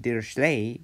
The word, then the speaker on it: Dirichlet: Today I want to talk to you about Dirichlet and Neumann boundary conditions. Please don't be frightened. And I want to point out, I pronounce it Dirichlet, but it's Dirichlet.